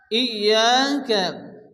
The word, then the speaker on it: إياك: ওয়া ইয়াকা, এখানে ইয়ার উপরে তাসদীদ, প্রথমত ইয়া হামজার সঙ্গে সংযুক্ত হবে। হামজা ইয়াজের ই, ইয়া আলিফ জবর ইয়া, আলিফ মাদ্দা এগারি পরিমাণ টান দিয়ে পড়তে হবে।